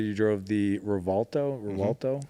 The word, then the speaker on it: Revuelto: So when you look at because you said you drove the Revuelto? Revuelto. Yeah, and when you think pronounce I'm it, I was saying it like, right.